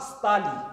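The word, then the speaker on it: столы: La table, Stol, Stoli. On la prononcera Stali. Le O reste O, mais la prononciation change au pluriel.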